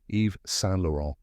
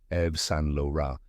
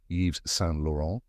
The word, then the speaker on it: Yves Saint Laurent: it pronounced even softer EV San with the final n barely pronounced many people say yees s lauron or EV s lauron